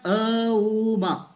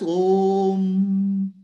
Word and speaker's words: Om: You should not pronounce as Om as A, U, Ma. Om has to be pronounced as Om.